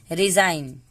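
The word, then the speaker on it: resign: रिजाइन, ई का कोई, जी का उच्चारण नहीं होता है, जी यहाँ पे साइलेंट है।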